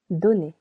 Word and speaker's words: donner: Same as the verb connaître, the letter O doesn't change its sounds to O simply because donner is cut into 2 syllables right over here. Do, ne.